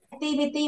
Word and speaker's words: activity: Activity bằng nhau đâu nha. Đôi ET dạo trong âm rơi trước nó là E.